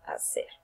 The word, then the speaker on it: hacer: W will be pronounced as in English, and H is always silent in Spanish. So we say hablar, like, and hacer.